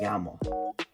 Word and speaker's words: llamo: And when there are double L's, it's pronounced differently. It's don't pronounce it. So if you write my name is in Spanish, it's going to be me llamo. It's kind of pronounced like a J actually.